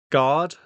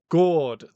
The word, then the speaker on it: gourd: Is it like guard? Gourd. Thank you.